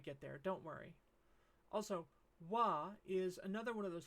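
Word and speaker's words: は: But sometimes ha, the one that we learned before, can be pronounced wa when it's used as a particle.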